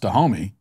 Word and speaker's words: Dahomey: kingdom but i mean it's spelled d-a-h-o-m-e why so i think it's pronounced to homie so it's the kingdom of dahomey you know dahomey down